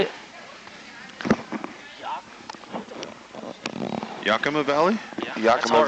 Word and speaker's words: Yakima: Yakima Valley?